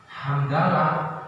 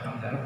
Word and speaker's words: hamdalah: Hamdalah ya alhamdulillahirabbil alamin. Mari kita tutup dengan baca hamdalah terus hamdalah, bukan hamdal itu bacaannya.